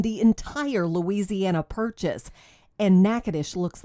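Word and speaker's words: Natchitoches: trip to nacadish Louisiana just pronouncing the name of this place is a challenge it looks like I don't know nacha toas a pronunciation that often gets it confused with nacadas Texas but locals pronounce the name of their town nacadish and that's just the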